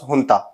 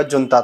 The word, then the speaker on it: junta: पे JUNTA लिखा होगा, जुनता, तो आपके सोच रहे होंगे कि जुनता को हुंता क्यों पढ़ रहा है। तो जहां पे वैसे JUNTA लिखा होगा उसको हुंता प्रोनाउंस किया जाता है।